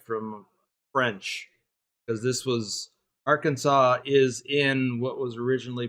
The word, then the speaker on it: Arkansas: it as Aransas just because that's the way it's spelled but it's Arkansas could be because I don't know but it could be derived from French because this was Arkansas is in what was originally part of Louis